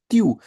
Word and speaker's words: tu: It's not tu, remember, it's tu, because the alphabet U in French is pronounced as EU, EWW, EU, right?